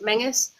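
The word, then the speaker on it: Menzies: Castle menus it's spelled menes but it's actually pronounced Mingus and it wasn't so much a it was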